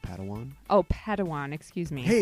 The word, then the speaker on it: padawan: reunion master yoda assigned a pad one to this bold jedi it's pronounced padawan oh padawan excuse me